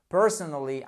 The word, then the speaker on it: personally: ce mot parce que si vous dites personn ça ne marchera pas c'est bien évidemment la prononciation et accentué au bon endroit sur la première syllabe personally prefer Cfee over tea